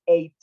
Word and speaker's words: eight: O sea, la G y la H no hacen nada, más que estar en la palabra escrita, pero del sonido no tienen nada que ver.